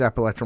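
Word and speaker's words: Appalachian: it right that time no it's appalachin Wireless Arena appalachin yes you did that is yes Wireless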